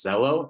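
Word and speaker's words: Xello: pathways a good website to do that is zello it's spelled x-e-l-l-o you can go on there it's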